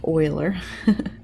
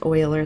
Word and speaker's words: Euler: methods of Euler and I know that doesn't look like oiler so let me write that it looks like Euler maybe but it's actually pronounced Euler the approximation method for